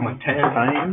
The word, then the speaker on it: Martijn: I'm trying to pronounce it slowly. Martijn.